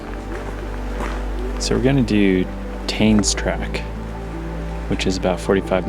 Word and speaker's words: Tane: So this is lower tain's track. So it looks like it just loops actually I think it's pronounced tan.